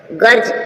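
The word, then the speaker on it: grudge: आया साइलेंट है बजट गर्ज गर्ज मीन रसा र से र हो रही है य जी आर यू डी जी जी से पहले डी आया डी साइलेंट है गर्ज रिज रिज मीस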